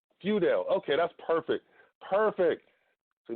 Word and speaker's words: Feudale: close eye it was close so so it's few doubt whew Dale okay that's perfect perfect do not get on